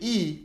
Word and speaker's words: y: II when I say e it means and I know it's written as Y but in Spanish this is pronounced as e English E and it means and